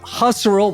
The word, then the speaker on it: Husserl: Today we have our new friend Elizabeth Husterel, which kind of rhymes with casserole as I was told.